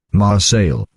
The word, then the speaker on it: Marseille: Marcel, he's saying Marcel.